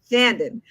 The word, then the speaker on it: Shandon: Is that Shandon? Yes. Shandon. All Yes.